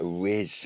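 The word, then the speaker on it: rizz: So it sort of rhymes with jizz, but can't be nothing to do with sperm. No, it's nothing to do with sperm. Riz.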